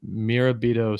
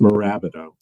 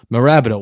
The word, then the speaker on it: Mirabito: Now you guys play in Mirabito Stadium. Did I pronounce that right? It's pronounced Marabito. Marabito.